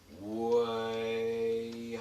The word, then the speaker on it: Wihas: name Wihas as such, the traditional pronunciation goes Wihas. The I is pronounced with an E, sort of push on it to where it's pronounced. It's the I with a line over it. It's the old pronunciation of Wehas.